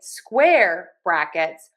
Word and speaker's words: square brackets: But then we say square brackets, we are going to make sure that we stress syllable number one, square brackets.